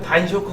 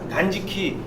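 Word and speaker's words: 断食: 어떤 분은 단쇼크 그러세요. 예, 쇼크잉이 음식이거든요. 그러니까 그때 이 쇼크가 아니라 그냥 지키예요. 단지키.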